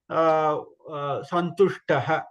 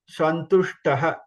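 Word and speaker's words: सन्तुष्टः: So there is a difference between, please note the difference between in Shankara. Shankara is first Sha, normal Sha, that okay, and Santushtaha or Vishnu, that Sha is different. Okay, Santushtaha. So Sha, you should have that. You can feel the difference. You should listen, hear the difference clearly.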